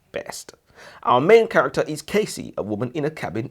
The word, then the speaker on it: Casey: I thought if you read the book, you'd think the name's Cassie, not Casey.